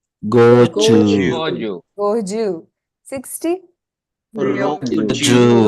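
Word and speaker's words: 五十: Okay, there's a slight, if you look at Goju, it's Goju. Go has no elongation, Ju has. So that has to be evident in the way you pronounce it. Goju. Not Goju, right? Goju. Slight elongation in Ju.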